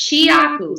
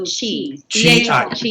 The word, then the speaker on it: Chiaku: And let me just say my name too it's Chiaku. So Chiaku.